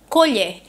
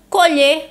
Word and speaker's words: colher: a diferença entre elas quando pronunciam colher nós temos esse timbre aberto é colher e quando eu pronuncio colher nós temos o timbre fechado e todas vamos perceber